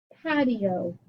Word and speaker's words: patio: Pat, E-O. Pat. Open syllable, but that I sounds like an E. Open syllable O. Patio. Radio.